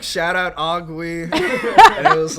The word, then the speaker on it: Oogwé: So, but we still insist on the accent on the E for some reason. Yeah. Because otherwise it's like, I guess. Because if there isn't an accent, it's Oogwé. Yeah, it's ugly.